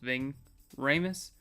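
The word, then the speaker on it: Ving Rhames: I guess Ving ramus Ving I think it's pronounced Ving ramus as Luther strickel he's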